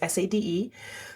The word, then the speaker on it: Sade: There is no H in Sade. It's just SADE.